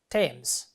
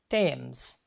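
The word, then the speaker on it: Thames: stretching over the river Tams how do you pronounce this word this is not THS this is Tams linking Westminister and Lambeth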